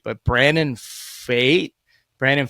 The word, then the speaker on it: Pfaadt: a debut last year I'm going to say his name wrong because it's spelled bizarrely but Brandon fate Brandon fate pfaadt Brandon fate it's been bad in